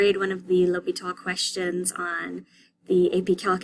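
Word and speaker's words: L'Hôpital: hospital but it's pronounced l'hopital the s is silent so you may see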